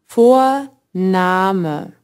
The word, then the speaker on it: Vorname: Watch out, the German V always sounds like the English F. Vorname.